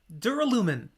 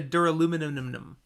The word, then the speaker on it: Duralumin: Duralumin. Duralumin. No, I'm going more British with the pronunciation. As long as it doesn't turn into Duraluminum.